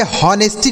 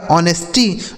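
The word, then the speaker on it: honesty: लिखा गया आपका ऑनेस्टी इसे होनेस्टी नहीं पढ़ा जाएगा गलत उच्चारण हो जाएगा दोस्तों यहां एच साइलेंट है ठीक है तो इसे पढ़ा जाएगा ऑनेस्टी मतलब क्या होता है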